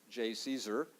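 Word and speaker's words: JCESR: for energy storage research which we abbreviate j and pronounce j caesar uh and the point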